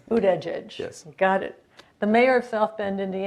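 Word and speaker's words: Buttigieg: a guy named Pete bued bued bued Edge right this is one of his political liabilities nobody can pronounce his last name um it's boot Edge Edge boot Edge Edge yes got it the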